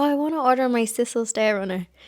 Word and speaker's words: sisal: And they were like, sisal? And I was like, sisal? Is that how you say it? And they're like, well, we say sisal, but sisal, sisal. So yeah, I have been saying it wrong, but maybe some places say sisal. I think sisal sounds cuter.